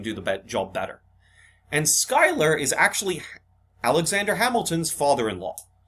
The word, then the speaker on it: Schuyler: okay it's looks like schuler um but it's pronounced skyler um phillip schuyler is